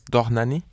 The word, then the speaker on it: Dohnányi: can you start with how to say his name of course that's danani and you wear not